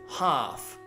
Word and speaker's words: half: pronunciation of half mikta so half no L sound no L sound at all an hour this is